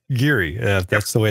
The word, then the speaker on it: Geary: care all right well I'll try to keep pronouncing it Geary Geary that's the way it's supposed to be hey